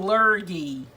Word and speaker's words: lurgy: You got the right first time, had G like in goat. Oh, lurgy.